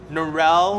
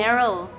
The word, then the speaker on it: Neryl: Oh, Neryl. Narelle? Neryl. Oh, that's how you say it.